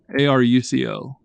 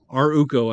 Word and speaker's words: ArUco: r u c o a r u c o my God this is yeah aruco codes oh there we go our UCO I think is is basically the way you pronounce it they're like fiduciaries they're